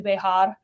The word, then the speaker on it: Bexar: And so we live in Bear County. It's Spanish, so it's actually Bejar. But if you can't roll your R, it's just Bear.